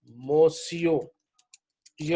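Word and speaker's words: monsieur: के लिए यूज होगा अगर हम कहेंगे ना बोय मोसो यह वर्ड है मोसो मोय मो सियो बोले स्पेलिंग बड़े अजीब से है लेकिन बोलने में आपकी कोई इसम पहले पता नहीं चलेगा यह वर्ड बना कैसे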